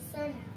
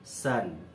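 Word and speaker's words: son: sir Gandhiji little বয়স্ক where is the money সান Gandhiji gently I am very good I ক্যান নট বাই এ sir okay এখানে তুমি এস ও এন এর pronunciation কি হবে সান সান এস ইউ এন সান মানে সূর্য এস ও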